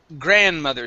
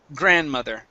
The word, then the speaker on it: grandmother: me a good r we do not pronounce the d grandmother grandmother okay give me a good r here instead of gran grandmother it's gr grandmother good mullet okay one more